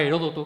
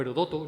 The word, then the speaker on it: Heródoto: periodista polaco donde recordaba heródoto que era o herodoto no depende de como lo pronunciemos el drulo oano que